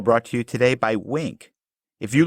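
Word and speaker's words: Winc: match to your palette wink is spelled w n c and they work directly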